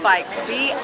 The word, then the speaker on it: Buycks: Buycks. It's phonetic pronounced B-I-K-E-S, but it's Buycks.